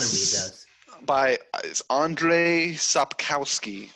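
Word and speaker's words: Andrzej Sapkowski: read those by is andre sopkowski i believe is uh how you pronounce it that's how the audiobook pronounces it so i'm going to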